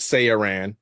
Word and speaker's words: SaiyRan: It is the great searan like the great sea man because bro, you got to hit you got to hit the bro.